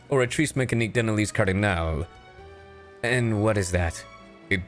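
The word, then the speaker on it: Oratrice Mécanique d'Analyse Cardinale: is in or mea orri mechan Denalis Cardinal what uh it's pronounced orrice mechan denal cardal and what is that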